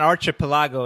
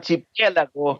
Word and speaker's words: archipiélago: Yeah, Uh, it's not archipelago, it's No, archipelago, right? archipiélago, and it's in Spanish, right?